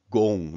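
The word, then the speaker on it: 공: Remember, this sound right here is a long O sound, so O, not ah, it's O, don, sorry, gong.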